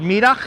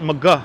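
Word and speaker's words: Middagh: and windy and is that how uh what midak street yes that's how you correctly pronounce it most people pronounce it Mah streets but it's spelled like midah or afternoon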